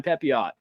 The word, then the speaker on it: Pepiot: framber Valdez underrated Ryan pepiot we know one seems to know how to say his name I think his French name would be pepio but you never know uh